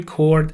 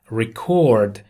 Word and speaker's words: record: بچه دقت کنید کلمه record اگر فعل باشه به این صورت تلفظ میشه و استرس رو بخش دومشه record و اگر اس باشه میشه record.